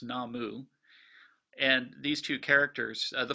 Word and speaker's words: 南無: a prefix are the two characters that in chinese would be namo and japan it's pronounced namu and these two characters